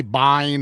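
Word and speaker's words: Biehn: How do you pronounce Bean? We say bean in Scotland. I hear people say bean. Bean. Bean. Bean. I've heard I've heard people say bine.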